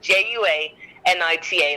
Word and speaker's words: Juanita: It's not a W, it's J, it's a Spanish name. People love to tell me how to pronounce my own name in Spanish. Juanita, like Anita, but Ju at the beginning.